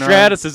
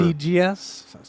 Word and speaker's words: Stratus: Strategias? Strategias. I think that's right. Yeah, It's like that's how it's Stratus.